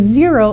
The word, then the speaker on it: Xero: to talk about is zero and zero is spelled x-e-r-o we do use zero